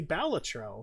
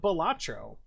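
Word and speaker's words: Balatro: By the way, in case you didn't know, the creators of the game intended for the pronunciation to be balletro, not Batro.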